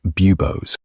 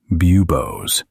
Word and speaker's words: bubos: These lumps are called bubos. Listen to the pronunciation. Bubos. Bubos. This is where the name bubanic comes from.